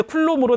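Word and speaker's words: Coulomb: 쿨롱. 뭐 발음을 롱으로 해도 되고 롬으로 해도 되고. 프랑스 사람이에요. 스위스인가 아마 프랑스 사람인가. 그래서 이걸 그 원어로 발음하면 롱이 됩니다. 근데 영어로 발음하면 롬이 되죠. MB로 끝나니까죠. M이니까.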